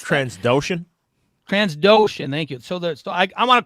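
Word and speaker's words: Trandoshan: The Transdonian, is that how you pronounce that? Transdoshan, thank you.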